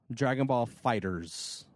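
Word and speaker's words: Dragon Ball FighterZ: publishers come out and set its fighters okay Dragon Ball fighters so so but yeah it's it's that that is the official pronunciation of it according to Bandai okay Dragon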